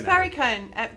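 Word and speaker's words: Perricone: Is it paracone? It's pariconee.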